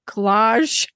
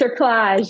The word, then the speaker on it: cerclage: You said at 36, they cut how do you say it? Collage? That's not right. Cerclage.